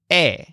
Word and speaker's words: he: Now, Joel's word here is eh. It's spelled H-E, but it's simply pronounced eh.